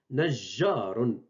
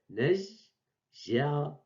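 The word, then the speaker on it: نَجَّارٌ: Et on prononce Najjarun. Donc, j'ai prononcé deux fois G. Najjarun.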